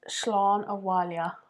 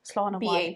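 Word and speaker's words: Slán abhaile: So the next one is Slán Awalia. Slán Awalia. Slán Awalia, yeah. Awalia? I think so because these two letters are making me think it's a V sound. Slán Awalia.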